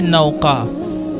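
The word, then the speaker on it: Nauka: मदद करने वाली मददगार और हामी नाम है नौका नौका की मानी हर चीज की महारत और इसकी स्पेलिंग है एन ए यू क ए नाम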